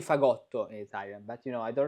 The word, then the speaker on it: Fagott: I'm talking about this fagot, I guess, with the accent on the ot.